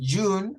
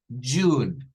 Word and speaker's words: June: De June, habíamos dicho que la pronunciación es Z y un. June, June, en honor a